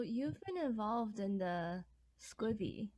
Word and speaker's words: SCBWI: do you say SCWBI or do you see SCBWI? Because I've heard both. Well, the official title is SCBWI, Right. um, but I know that many people find all kinds of ways to say it. Okay. Just Scooby, Squeeby, because it's really hard to pronounce it.